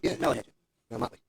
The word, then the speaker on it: Molly Hatchet: was it, is it Motley Hatchet? Yeah. Molly Hatchet.